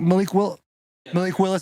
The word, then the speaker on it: Malik Willis: Malik Willis, that's how you say his name.